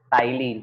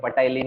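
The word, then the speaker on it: ptyalin: salivary amylase का एक और नाम है टाइलिन। यहाँ पे पी साइलेंट है, पटाइलिन नहीं बोलने का इसको, टी का प्रोनाउंसिएशन साइलेंट है।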